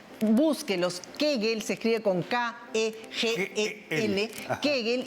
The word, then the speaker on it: Kegel: kegel Y estos ejercicios nos permiten fortalecer esa hamaca